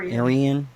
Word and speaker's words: Irian: you say your name again again it's AR Aran Aran um and is that your that's